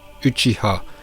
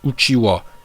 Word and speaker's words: Uchiha: On me reproche de mal prononcer Uchiha, et d'après certains c'est Uchiwa. Eh bien non, vous vous trompez. Ce n'est pas parce que dans la VF ou dans les vidéos de certains youtubeurs manga, vous avez entendu Uchiwa que c'est la bonne prononciation. Regardez dans la version originale, c'est bien Uchiha.